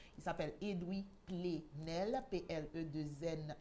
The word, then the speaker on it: Edwy Plenel: presse et doubler rennes ça s'écrit ed w lee edwin coq edwin chez nous mais sans le n il s'appelle edwy plenel paix est le 2è